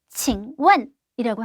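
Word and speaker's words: 请问: 말씀 좀 묻겠습니다 라는 말을 중국어로 칭원이라고 합니다.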